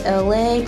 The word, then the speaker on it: Elay: So I'm saying all this to say, hello, my name is Elay, pronounced like LA like the city.